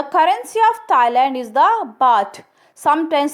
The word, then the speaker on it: baht: The currency of Thailand is the baht, sometimes spelled bath but pronounced to rhymes with hot. 1 baht is divisible into 100 satang.